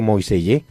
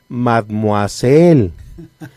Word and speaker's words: Mademoiselle: Y yo no me acuerdo de Moisellé, hasta que a alguien le cae en la cuenta. Es Mademoiselle, que se escribe Mademoiselle, sí, pero eso de Moisellé, pues